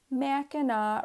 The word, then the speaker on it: Mackinac: rhyme with Cadillac but the second C is silent pronounced correctly Mackinac rhymes with drop your